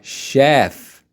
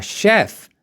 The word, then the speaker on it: chef: professional we say a chef a chef CH here is pronounced like sh sh Chef so once again a